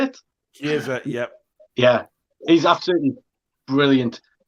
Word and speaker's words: Chiesa: Chiesa, yep.